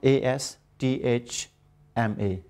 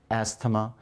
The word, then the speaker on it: asthma: asthma on Saturday Asma a s t h m a people usually pronounce this word as athema and we say athematic